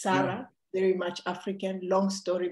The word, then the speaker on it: Saray: grandmother uh you asked me how do you pronounce uh um you know my name it's Sarah very much African long story behind that um